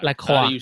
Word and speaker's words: LaCroix: How do you say it, John? LaCroix. It means the cross.